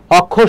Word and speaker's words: অক্ষর: অক্ষর তাহলে কি হবে, এখানে অক্ষর, এই যে ক্ষীয়, এখানে ক আর কি হবে, খ হবে।